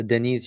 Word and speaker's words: Deniz: that um you know Denise am I pronouncing your name correctly by the way? Yeah, it is. But if you find it easy, it's Dennis is fine as well with Dennis.